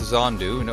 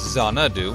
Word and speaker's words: Xanadu: say this word Xanadu I was close with is on dunno its Xanadu I was missing an egg and yeah I'm